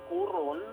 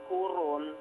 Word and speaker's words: Coron: It's a pronounced as kuron ah kuron Yes kuron locally it's pronounced kuron actually It's a one